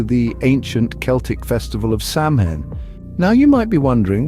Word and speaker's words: Samhain: to what your instinct might tell you is pronounced sawin Yes you heard that right sawin the word hails from Gaelic and means Summer's